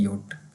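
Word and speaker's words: Jot: तो इस तरह इसकी जो प्रोनाउंसिएशन होगी वाई की तरह होगी, इसको आप समझ लो है ये वाई की तरह ही प्रोनाउंस करेगा ये जे जो है।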